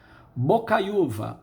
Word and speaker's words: Bocaiúva: Bocaiúva, bocai-u-va. Este U fica sozinho, ele forma hiato. O que é o hiato? Ele forma hiato com a vogal anterior, tá? O I ficou numa sílaba, o U em outra, deveria receber acento.